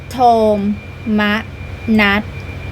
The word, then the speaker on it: โทมนัส: โสมนัส ยิ่ง แก่ ราชา โ มนั อ่าน ว่า โม มะ นั หมาย ถึง ความ เสีย ใจ ความ เป็น ทุกข์